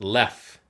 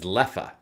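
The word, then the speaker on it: Leffe: So it's pronounced Lef, but the Dutch pronunciation is Leffa. So Leffa.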